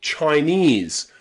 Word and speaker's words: Chinese: You'll also find this pronunciation of the letter E in words like Chinese or Vietnamese or Japanese, okay? ESE, any word with ESE, that ESE is pronounced ease, ease, okay?